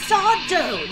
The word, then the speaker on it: Sardo: my sweet little plum it's sardo no mister accent on the dough point to the map